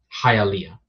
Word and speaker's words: Hialeah: not very problem either would you say hylia Hialeah oh okay I thought you meant like Zelda